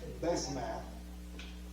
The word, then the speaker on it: Basemath: And it can be pronounced in a few different ways. Basemath, would probably be the most common way.